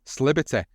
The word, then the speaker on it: East Liberty: town, located in the East Liberty section of Pittsburgh, or Sliberty, as it's pronounced in the slurred slang of the community.